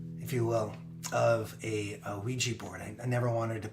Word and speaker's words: Ouija: you will of a Ouija board I never wanted to put liji in the song after although rhymes with Ouija other than squeegee or Fijian that would just pull